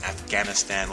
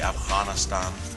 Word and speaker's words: Afghanistan: And then, of course, in rehearsal, we had a dialect coach that helps us with pronunciations, like instead of saying Afghanistan, we'll say Afghanistan. That sound.